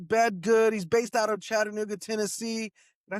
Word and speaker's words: Chattanooga: Uh, I learned when I moved here, it's Chattanooga. You hit the T real soft. Chattanooga. But you got to pronounce every syllable or people get mad.